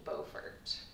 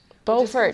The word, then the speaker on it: Beaufort: It's spelled the exact same way, so it's really That's funny. confusing. Yeah. That's how you pronounce it. Yeah. I didn't pronounce it correctly.